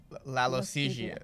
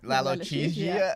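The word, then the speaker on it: lalochezia: Lalo L-O-C-H-E. Laloche. Z like zebra. Z. I-A. How do you say it? Lalochesia. Lalochesia.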